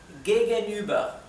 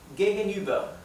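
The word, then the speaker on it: gegenüber: los sonidos del alemán esto sería lo más parecido que puedo escribirlo en español es gegenuber sin embargo lo correcto sería gegenuber gegenuber sí bien gegen significa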